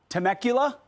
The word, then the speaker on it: Temecula: newly sworn in conservative board School Board in temakula I'll make sure I pronounce that right Valley Temecula thank you Rachel California saying it will quote